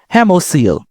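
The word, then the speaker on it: hemocoel: I I'm pronouncing that wrong. Hemosil.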